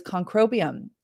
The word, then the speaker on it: Concrobium: Um the best one that I have found is Concrobium. And I always say conroium is a mouthful, but uh it's spelled C O N C R O B IU M.